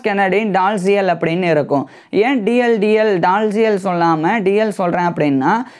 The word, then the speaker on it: Dalziel: So British இங்கிலீஷில் வந்து Thomas Kennedy டால்சியல் வந்து தாமஸ் கென்னடி டிஎல் அப்படின்னு சொல்லி தான் இருக்குது. ஸோ அந்த ஒரு நடுவில் இருக்கக்கூடிய அந்த ALIZ அந்த ஒரு வார்த்தை எல்லாமே சைலண்டில் வந்து போயிடும்.